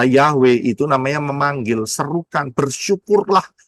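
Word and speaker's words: Yahweh: namanya saudara bisa lihat manggil itu jelas yod he waw he nulisnya dan pang ee ee pelafalannya adalah Yahwe itu namanya memanggil serukan bersyukurlah naikkan puji-pujian bersyukur kepada siapa Yahwe.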